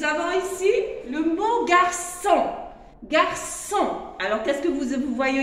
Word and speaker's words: garçon: Mais si je lui ajoute la cédille, il devient so. Alors, je le prononce garçon.